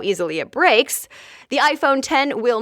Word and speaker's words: iPhone X: iPhone it's called the iPhone 10 and it was just revealed yesterday so here are the highlights first it's written like iPhone X but it's actually pronounced 10 so the Roman numeral